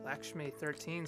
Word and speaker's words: Lakshmi: Lakshmi13 says, Doc is fun, but he's a known risk. Just for reference, not that you could know this, it's pronounced Lakshmi.